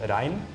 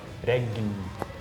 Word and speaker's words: regn: but then in Norwegian it's pronounced rein, and then in a more Swedish accent you would pronounce a G, so then it's more like regn.